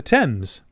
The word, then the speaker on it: Thames: It's spelled Thames, but the British call it the Thames.